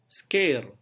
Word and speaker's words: scare: Walaupun ejaannya SC, kita mengucapkannya sebagai K. Scare, scare.